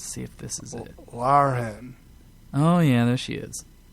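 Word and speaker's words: Lahren: spell her last name it's it's Len but you spell it l a h re n she is a uh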